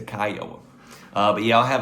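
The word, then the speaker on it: Kiawah: Kiwa. I tell you what, let me Google that real quick. Here we go. Kya. Kaioa. Okay, I was wrong. It's the Kyoa.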